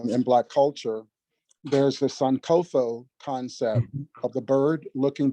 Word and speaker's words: Sankofa: It's Sankofa. Kofa, I'm sorry. I have a friend here who's correcting my pronunciation. Sankofa.